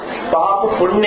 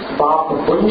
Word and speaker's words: पाप पुंज: देखिए पाप पुण्य नहीं है, वहां पर जितने लोग उसका पाप पुण्य उच्चारण कर रहे हैं वो अशुद्ध उच्चारण, भले अनजाने में कर रहा हूं, लेकिन वहां पाप पुण्य नहीं है, पाप पुंज है।